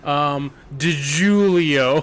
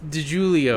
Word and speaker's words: DiGiulio: What sounds Italian and rhymes with Leo? DiGiulio.